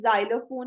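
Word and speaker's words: xylophone: नी नोक नो नश एक्स की आवाज जो है वो जी की तरह निकलती है जैसे अगर स्टार्टिंग में आए तो जैसे जाइलम है जाइलोफोन है जेनोफोबिया एकसेप्शन इसमें क्या है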